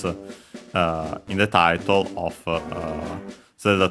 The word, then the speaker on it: を: Then we have the object particle o, written as wo, and pronounced as such in careful speech and also singing.